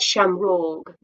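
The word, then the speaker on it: seamróg: catholic faith and so in irish we would say it sham rog in english we say it shamrock so shem rog is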